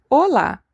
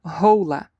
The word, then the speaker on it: hola: So casa esque familia familia gas hola. The h is always silent. Never say hola. No. Hola. Ola.